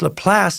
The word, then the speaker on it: Laplace: Another quick pronunciation update from Juan Ramirez, who writes, "Dear Socrates, Laplace is a French name, so it's pronounced Laplace. I almost said Laplace again.